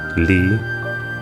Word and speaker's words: Lea: Lee, but it's spelled Leah.